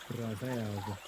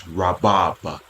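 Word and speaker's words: רבב: Ravav. Ravav. No, that's not how you say it. He's saying it the Greekish way. Rabab. Shut the fuck up. Let's go back. No, it's Rabab.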